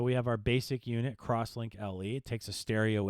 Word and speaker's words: X-Link: they're pronounced akoya crosslink which is typically written x-link so it's crosslink and servlink there's essentially